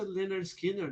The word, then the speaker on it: Lynyrd Skynyrd: Good Life eh Talvez ele concorre com o pronounce Lenner Skinner né que é que é o disco de